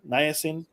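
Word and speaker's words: niacin: circulation to your scalp something like vitamin B3 nasin uh am I pronouncing it right nasin yeah you're right yeah you know my Spanish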